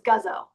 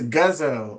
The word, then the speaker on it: Guzzo: Although my last name is Guzzo. Good. I can't get anything right. I poured my heart and my soul into that bio and I mispronounced. Right. I don't want to mess up again. It's Guzzo.